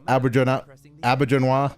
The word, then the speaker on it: Auberjonois: is a shapeshifter, who he's voiced by Renee Auberjonois, I believe is how it's pronounced.